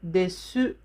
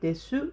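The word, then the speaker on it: です: Famous example, this, in the Japanese word, this, is written like desu, but we don't say desu, we say des.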